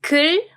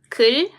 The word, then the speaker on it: 글: Let me pronounce those words, okay? 글 and 굴. 글, 굴.